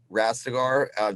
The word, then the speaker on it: Rastegar: Rastegar, just like exactly like it's spelled.